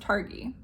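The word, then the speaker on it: Targhee: Smoke Stack this is a worsted weight American targi or tari a GH which I would think is J but I always hear it pronounced tari either way American targi and Colombian Wool Wool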